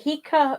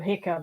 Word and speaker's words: Heka: ka yeah and uh I usually say it hia because the uh the the Coptic derivative has actually an eye at the beginning of like hick the short eye yeah so um that's